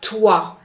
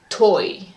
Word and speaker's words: toi: OI is pronounced wa. Par exemple, toi, roi, noir. Do not pronounce OI, oi. For instance, you have to say toi. Do not say toi.